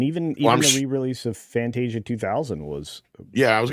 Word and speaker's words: Fantasia: media says for $2 remember the re-release of Fantasia which I have been informed that's how you're supposed to pronounce it and not Fantasia like I always say in 1990 uh actually